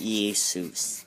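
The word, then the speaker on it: Ἰησοῦς: even after the liturgy this is pronounced Jase EA suits even after the introduction of Jay it wasn't agent and we started pronouncing it as Jesus they still pronounce it as EA soos there is a shot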